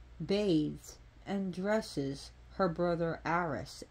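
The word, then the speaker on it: Ares: of the stories bathed and dresses her brother Aris Aries let's pronounce Aris so things about this goddess she her her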